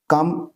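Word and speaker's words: calm: दयालु दया करके डांटे काम सी ए एल इसमें एल साइलेंट होता है बच्चों काम का मतलब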